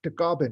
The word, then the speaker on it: Tagaban: And my last name is Tagaban, and it's pronounced Tagaban in the Philippines.